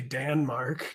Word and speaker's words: Danmark: to say European uh Denmark is actually danmark did you know that I don't know you just